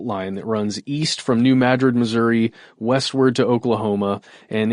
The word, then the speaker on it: New Madrid: The only reason that I know, the only reason I pronounce that town in Missouri as New Madrid From the video?